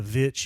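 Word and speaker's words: The VVitch: I really love called The Witch or The Vitch, if you pronounce it that way. Two V's.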